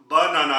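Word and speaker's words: Banane: यानी के बे और इंग्लिश में जिस तरह हम बनाना कहते हैं तो इसी तरीके से जर्मन में इसकी आवाज बनान बनान यानी के केला और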